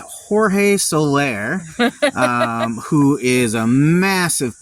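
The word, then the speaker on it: Jorge Soler: sellers top sellers yeah George solar well that is a very um anglicized way of pronouncing that that is Jorge Solair um who is a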